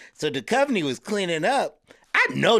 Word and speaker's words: Duchovny: It's David Duchovny.